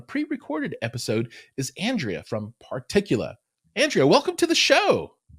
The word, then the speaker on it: Particula: Yes, Particula.